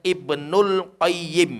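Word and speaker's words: Ibnul Qayyim: qayyim al-jauziyyah rahimahullah hai tapi kalau kita pengin menyebutkan dua saja yg penuh dan Kyle maka bacanya Ibnul qoyyim hai tapi kalau kita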